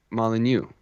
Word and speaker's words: Molyneux: How do they pronounce it? How do you say it again? I say Dave Molyneux. Molyneux.